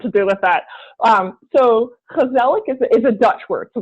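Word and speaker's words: Gezellig: then how do you pronounce it okay so Kozelek is spelt with a g' so it's GE z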